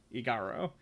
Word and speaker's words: Igaro: I pronounced it wrong the first time, Igaro, and happened to bump into Uncle Gamlin, who I imagine will listen to pretty much any story.